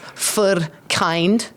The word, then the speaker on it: Verkindt: It's pronounced Verkindt.